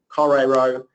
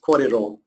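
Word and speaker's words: kōrero: And an R is pronounced slightly differently, a R sound, as instead of saying korero, it's korero. I'm going to be talking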